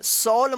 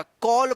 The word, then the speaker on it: call: CALL इसको क्या पढ़ेंगे? कॉल। सॉल मत पढ़िएगा, कॉल पढ़ेंगे। कॉल, कॉल मतलब बुलाना।